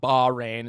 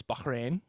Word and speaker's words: Bahrain: previews bahrain i was i've recently found that that's how you say it it's not ba rain it's bahrain so you know i'm saying